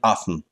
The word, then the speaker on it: often: очень часто often часто в Британии можно ещё говорить often Ну в Америке Это обычно Ну в Британии точнее это а в Америке Это обычно Т произносится мы не смотрим телевизор слишком